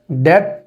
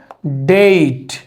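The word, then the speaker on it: date: তো খেজুর গাছের ইংলিশ আমাদের দেশে প্রোনাউন্সিয়েশন করা হয়ে যাবে ডেট ফ্লাম। কিন্তু এটার প্রোনাউন্সিয়েশন হচ্ছে ডেইট। ডেট farm.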